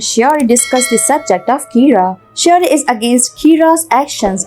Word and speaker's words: Kira: person behind this and calls him Kira which is the Japanese pronunciation of the word killer some people are in